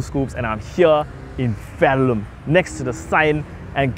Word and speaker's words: Verulam: Well, again, people, this is OG Two Scoops, and I'm here in Verulam, next to the sign.